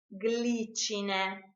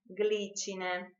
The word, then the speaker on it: glicine: We pronounce it GLI when the I is followed by a consonant, gl, glicine, glicine.